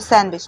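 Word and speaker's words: sandwich: सैंडविच नहीं पढ़ते, इसको सैंडविच पढ़ते। सैंडविच नहीं पढ़ते, सैंडविच पढ़ेंगे। तो इसमें डी को जो है वो साइलेंट पढ़ा है।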